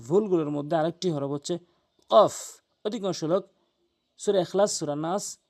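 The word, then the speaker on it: ق: আসুন মারাত্মক লেভেলের ভুলগুলোর মধ্যে আরেকটি হরফ হচ্ছে কফ অধিকাংশ সূরা এখলাস সূরা নাস সূরা ফালাক ওখানে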